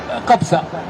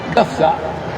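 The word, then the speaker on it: Gafsa: Le P se prononce fait. En écrivant ou en parlant en arabe, on ne doit pas dire Kapsa, on doit dire Kafsa, exactement comme tout le monde.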